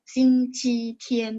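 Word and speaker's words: 星期天: Cuman kalau misalnya teman-teman mau tes HSK, nah itu harus baca nada satu, Xing Qi Tian baru tepat gitu ya. Oke, jadi bukan salah, cuman karena tendensi, maksudnya ada beberapa daerah kan dia bacanya nada dua gitu ya.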